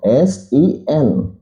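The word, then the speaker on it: سين: Jadi jangan sampai kita mengucapkan huruf ini huruf sa. Hurufnya tetap huruf sin.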